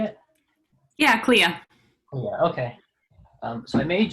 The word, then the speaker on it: Clea: Yeah, Clea.